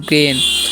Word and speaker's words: grain: तो इसे हम क्या पढ़ेंगे, इसे हम लोग पढ़ते हैं ग्रेन। AI जब भी रहेगा ना उसका उच्चारण ए कर देना है, ठीक है।